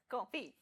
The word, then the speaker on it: confit: Confit. So what's the confit. It's pronounced Confit.